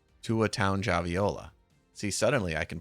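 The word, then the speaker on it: Tagovailoa: Townge Aviola. Townge? Does it rhyme with lounge? Townge Aviola? Tua Townge Aviola.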